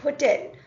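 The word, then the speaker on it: hôtel: but om okay here the word hotel hotel is pronounced as Hotel okay and or large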